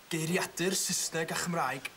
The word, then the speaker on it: Geiriadur Saesneg a Chymraeg: Geiriadur Saesneg a Chymraeg.